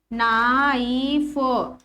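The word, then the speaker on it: knife: Start हो रहा है के से, लेकिन के साइलेंट हो जाएगा, के को नहीं पढ़ते हैं, बोलते नहीं है के को, ठीक है। सिर्फ क्या पढ़ते हैं, नाइफ। के लिखते जरूर है स्पेलिंग में, लेकिन हम पढ़ते क्या है यहाँ से, नाइफ।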